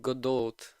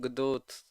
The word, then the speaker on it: Godot: its most popular yeah I know the second pronunciation of godo most correct but I'm it's so unusual to me I always said said Godot just Godot just character by character Nan image okay just go